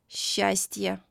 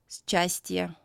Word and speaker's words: счастье: The combination of the letters S and Ch in Russian is most often pronounced as the soft sound Sh, similar to the sound in the word щетка. Щетка. For example, счет, счастье. We don't read these words as счет, счастье.